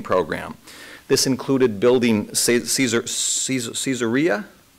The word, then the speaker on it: Caesarea: this included building caesar caesarea that's how you pronounce it in english i want to say kaiser caesarea caesarea to the north